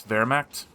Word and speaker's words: Wehrmacht: between Nub as the Wehrmacht. He's YouTube commenter told me the other day I pronounced that word wrong. I looked it up. I believe it's Wehrmacht. And maybe I'm overcompensating with that rolling W.